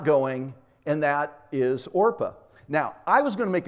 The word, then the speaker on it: Orpah: birth certificate it's actually Orpah but everybody kept mispronouncing it as Oprah and that Oprah was